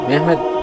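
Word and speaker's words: Mehmed: তুর্কি ভাষায় মোহাম্মদকে মেহমেদ উচ্চারণ করা হয়।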